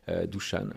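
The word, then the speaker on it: Dušan: lancé True Global Venture aux côtés de Dusan, qu'on connaît communément, Dushan, comme on prononce.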